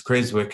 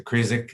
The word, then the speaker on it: Creswick: to start the drilling in creswick um it's pronounced as crazy work in australia as opposed to krzyk it's not asylum w the um the uh